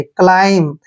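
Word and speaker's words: climb: ठीक है ना लाइ और देखिए जब भी एम के बाद बी आता है तो बी का उच्चारण हम वहां पर नहीं करते ध्यान रखना एम के बाद जब भी बी आए तो बी का उच्चारण हमने नहीं करना है और एम को हम मैं पढ़ेंगे क्लाइम इसको क्लाइम नहीं पढ़ना है क्लाइम होता हैय बी यहां पर साइलेंट होता है क्लाइम होता है चढ़ना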